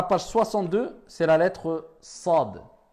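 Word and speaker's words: صاد: Contrairement à la lettre Sad, qui est avec at-tafkhim, avec emphase. On remplit la bouche, c'est plus grave.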